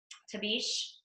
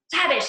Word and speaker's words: Tabish: But and then Liz Tabish, I think that's how you say her name. Tavish, okay, I was so sure it was Tabish.